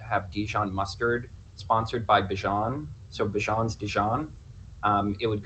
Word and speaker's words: Bijan: Bijan Robinson. Can you spell that?